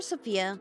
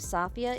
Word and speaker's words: Safiyyah: version of sfia or Sophia whichever you prefer I see sopia because that's the pronunciation used in the preview videos for the global version so that's what I'm